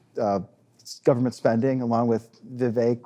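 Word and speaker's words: Vivek: government spending along with Viv rhymes with cake ramaswami that's can be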